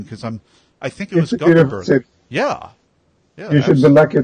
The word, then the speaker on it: Gothenburg: So it was TEDx Gutenberg. Am I saying that correctly? Gothenburg. Yeah, TEDx Göteborg is the Swedish pronunciation, is the city. Gothenburg is the city. Gothenburg.